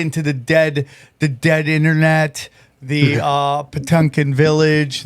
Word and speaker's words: Potemkin: It's you get into the dead internet, the Potemkin Village. How did I pronounce it correctly? Yeah, no, you did.